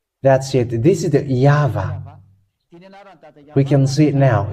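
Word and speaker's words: יהוה: It's Yah, and this one side is Vah. This is read as Vah.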